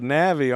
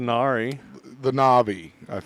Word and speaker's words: Na'vi: Um, but they're called the Na'vi, aren't they? Not the Nari.